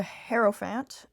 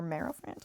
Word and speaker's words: Hierophant: And with the Hierophant, I think that's how you pronounce it, sorry. Or Merophant? I don't know. The Hierophant, I'm pretty sure. Hero. Yeah, Hierophant.